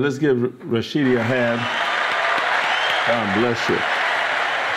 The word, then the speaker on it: Rashidi: And his name is Rashidi. Did I pronounce that right?